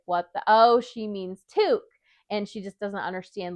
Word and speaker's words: toque: So that is our name for a beanie and it's a French Canadian word which is kind of like why it's not necessarily pronounced how you think it would be pronounced.